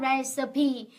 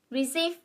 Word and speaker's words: recipe: Ngày xưa khi mà mình mới bắt đầu nấu ăn ấy thì từ này mình đọc sai loạn lên. Receive. Đúng không? Nhưng mà nó đọc là gì ạ? Recipe.